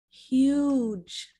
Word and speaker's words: huge: Next, we have huge. Huge. So be sure to pronounce the American English H.